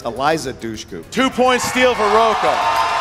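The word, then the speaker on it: Eliza Dushku: her name it's um hold on it's uh Alicia Dooku am I pronouncing that right I'm not going to give you Alicia Dooku uh it's Eliza duchu two point steal for Roa so John Roa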